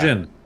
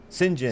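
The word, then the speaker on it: Cyngn: Singen. Singen.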